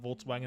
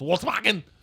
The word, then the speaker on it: Volkswagen: a heaven wisen no in German you pronounced the W's like v's and the v's like w so it's not Volkswagen it's Volkswagen okay so you have to